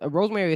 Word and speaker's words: Rosemary: Yes, Rosemary. Rosemary and Wendy Chu. Yeah, so Wendy the two creepy characters from NXT. Well, one is from NXT and the Rosemary is from TNA, if I'm not mistaken.